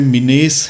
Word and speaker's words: menace: English में इसको लिखने में मिनेस है, बट इसकी जो प्रोनाउंसिएशन है वो मैनस है.